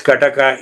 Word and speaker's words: kataka: kataka we call it pronounced as kataka in Tamil.